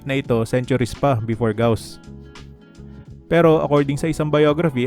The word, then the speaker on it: Gauss: filter na gosan blur ang pangalan ng mathematician ay gaus pero somehow gosan ang bigkas ko sa Photoshop filter It's a common mistake actually hindi na nga siya mistake dahil maraming tao rin talaga ang nagbibike na gosan pero I want to